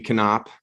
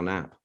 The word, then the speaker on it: Knapp: came over from Germany it used to be canop uh but the folks here couldn't figure out how to pronounce it so it is now nap oh enter interesting very